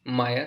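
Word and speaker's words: Maja: एंड इस word का pronunciation will not बी माजा, it will be माया, because the जे जे जो German language में है, इट is pronounced as वाई.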